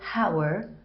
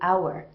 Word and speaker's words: hour: I have put an hour why because when I pronounce H oh you are I don't say power I say our we're in the H is silent so in any word